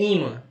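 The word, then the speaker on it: ímã: Porque é ima. São duas sílabas. E a penúltima é mais forte, que é imã. Então, leva o acento no i.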